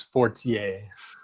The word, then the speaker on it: Fortier: might pronounce it better he's french canadian so it's fortier okay 48 uh he's